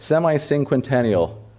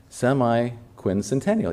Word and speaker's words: semiquincentennial: Semi sing how would you say that? Semi-inquentennial. No. Oh my gosh, I said it so many times. Semiquincentennial. Yeah, I think I said it right.